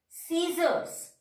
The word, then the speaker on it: scissors: You know, if the letter C is just, we are writing the letter C just before the I, E and Y. In that case, C is silent. That means letter science, S-C-I-E-N-C-E, science. That means letter C its position is just before the letter I, letter E or letter Y.